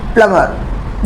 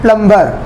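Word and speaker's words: plumber: प्लम्बर। दोस्तों, कई बार बहुत सारे न्यू लर्नर्स, न्यू स्पीकर्स इस वर्ड को प्रोनाउंस करते वक्त बोलते हैं प्लम्बर। This is wrong. इसका सही प्रोनाउंसिएशन है प्लम्बर। तो जब आप इस वर्ड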